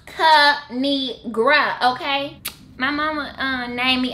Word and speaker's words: Kinigra: It's pronounced Kinigra, okay?